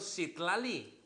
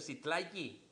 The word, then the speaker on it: Citlali: A nuestra hermanita de allá le pusieron Citlali, que realmente se pronuncia Citlali.